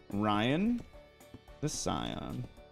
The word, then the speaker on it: Ryan the Scion: it's snowing and like hailing it's awesome I pronounce my channel name Ryan the Scion you can just call me Ryan though that's